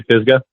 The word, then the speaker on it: Pisgah: Am I pronouncing it right? We say Pisgah. Pisgah. Okay. Pisgah.